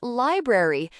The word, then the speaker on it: library: Question nine answer is library. Note ar sounds uh.